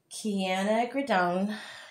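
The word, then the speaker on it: Quinacridone: is called um it's liquitex it is called k grone k grone magenta I'm going to do another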